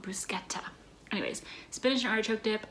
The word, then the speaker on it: bruschetta: Actually, fun fact, our caterer informed me that bruschetta is not pronounced bruschetta. If you want to pronounce it correctly and sound sophisticated and like a person who eats bruschetta, you call it bruschetta.